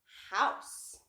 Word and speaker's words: house: I can write the word house. H, ow, s, house. And you don't hear the E, it is silent.